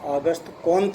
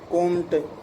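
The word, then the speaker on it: Auguste Comte: पुस्तकों में हमारी में कोंट, कांटे, कांट, अगस्त कांट इस तरह से लिखा हुआ मिलता है। वस्तुतः वो उच्चारण और लिखने की दृष्टि से सही नहीं है, तो इनका शुद्ध उच्चारण संक्षेप में ऑगस्ट कोंत होता है।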